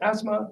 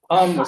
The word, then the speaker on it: Amna: Is it Asma from the Pathways Project at the DFE here today? So we're having high-level. We've got really good. Sorry, yeah. How do you pronounce it? It's Amna. Sorry, I told you I was useless.